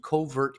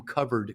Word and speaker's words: covert: the book you know he he mispronounces covert contracts he calls them covered contracts in the book and and you